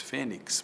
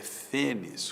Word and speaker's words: fênix: tórax é uma palavra fênix. Muita gente diz fênix, mas a pronúncia erudita é fênis com X no final.